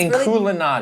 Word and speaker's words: Inkulinati: I think it's supposed to be like Illuminati, so I'm going to say Inkulinati. That's really the name? Yes, that's Inkulinati.